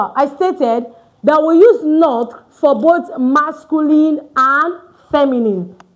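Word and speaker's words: nos: For our children and for our schools it now becomes N O S. N O S is pronounced no. But before a vowel the S is pronounced as Z.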